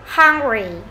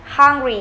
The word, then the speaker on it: hungry: Hungry, âm mũ này chúng ta nhớ nhất nó khoảng giữa âm á và âm ớ. Hungry, đừng đọc là hungry nhé. Hungry là chúng ta đọc hơi nặng. Hungry, hungry, đi ngang huyền xuống.